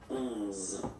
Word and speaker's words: onze: Okay, so O plus N give you the sound onze. Okay, final E doesn't exist phonetically.